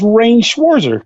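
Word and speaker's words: Rean Schwarzer: It's Rain Schwarzer. Rain, okay. I'm But I like wanna call him Rain. Like Reen. Like, your name is Reen, and that's it. No, my name is Rain Schwarzer.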